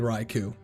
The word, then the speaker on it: Raikou: It's definitely Raikou. It's K-O-U. If you don't pronounce K-O-U, what do you pronounce?